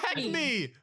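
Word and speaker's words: Acme: AA how do you say AC me it's AC me but yeah it's called AC but yeah they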